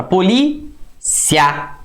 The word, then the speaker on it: polícia: polícia pronuncia a palavra polícia olha como é que o a é mais forte Então você pronunciou a